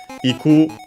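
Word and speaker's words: 行く: Iku, we have studied this kanji in a previous part of this series. The verb which means to go, unaccented.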